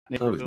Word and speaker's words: Naperville: Is that how you pronounce it? Yeah. Naperville. Oh, Napierville.